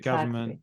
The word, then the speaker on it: government: can understand that one they're a bit of a silent letter aren't they so government g v r n m n t so yeah EXA the n and M going together there so yeah bit confusing